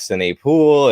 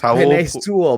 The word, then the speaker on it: Penei Sewell: I mean, everybody was an NFL GM and scout apparently because it went from we need to draft Sine Poole and we need to go ahead and draft who?